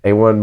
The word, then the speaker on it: Ewan: Like almost like Owen, but British people got to do different.